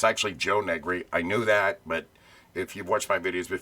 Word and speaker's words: Negri: another show uh if you remember handyman Jim negri yeah I'm also sorry I mispronounce it it's actually Joe negri I knew that but if You' watched my